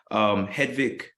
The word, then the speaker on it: Hedvig: provided them with tools and access to financing hedvik welcome to the show and I hope I pronounced your name correctly you do yes thank